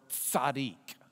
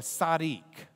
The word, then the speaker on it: tzaddik: You have the TZ. You have that next letter is the D. And then the yod just sounds like an E sound here. It doesn't really sound like a yah part. So it's just E sound.